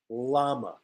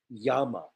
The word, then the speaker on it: llama: say la we say llama llama right armadillo and llama in Spanish Double L is yeah so the correct pronunciation I know is Yama Yama and armadillo um yes